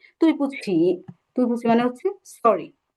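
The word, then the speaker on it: 对不起: এখন আপনি যে ভুল করলেন, আরেকজনের কাছে আপনি সরি চাইছেন বা তুই পুছি বলছেন, তখন সে কি বলবে?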